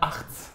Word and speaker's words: Hartz: C'est Hartz. Voilà, Hartz, c'est mieux, tu vois, c'est côté belge un petit peu.